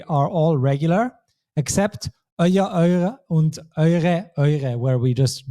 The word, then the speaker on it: eure: For the feminine and plural, we don't say euere, but we say eure. We cross out one letter E there because euere is just too inconvenient to pronounce.